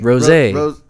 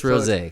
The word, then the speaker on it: Rosé: Yeah, it's got a little accent on the Rosé. E, and it's all capitalized. So I think it's Rosé. We're going to stick with the Rosé in this one. Rosé! I guess. Rhymes with Jose, which is what Justin's